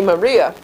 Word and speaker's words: Mariah: Mariah, it rhymes with hire. Liar for hire, liar, hire, Mariah, who's out at 301 Old Tarrytown Road in Greenburgh, which has a White Plains zip code.